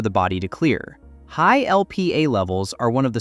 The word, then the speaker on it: Lp(a): The mutation involves a molecule called LPA, pronounced LP(a).